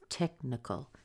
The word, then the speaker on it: technical: Technical is stressed on tech. Tech is heard in all kinds of things, all kinds of words and situations. So tech is rather big. We have a short E in here followed by the K sound. So this is where the most strength will be. Our biggest sound is tech.